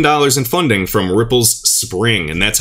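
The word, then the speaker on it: Xpring: in funding from ripple's spring and that's how it's pronounced i know a lot of people say xspring but it's actually spring just development on the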